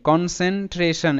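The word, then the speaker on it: concentration: তো যারা নতুন কিভাবে উচ্চারণ করবে, এখানে নিতে হবে CON, কন, কারণ এখানে কিন্তু NC পাশাপাশি থাকলে নস সাউন্ড হয় না, তাই কিন্তু এনটাকে প্রথম পার্টে নেওয়া হয়েছে, কন। এবার CEN ঠিক একই রকম,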